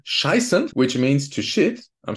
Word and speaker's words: scheißen: But the EI is pronounced I, just like in a vulgar word scheißen, which means to shit.